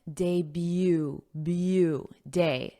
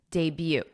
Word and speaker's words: debut: And notice that pronunciation, debut, debut.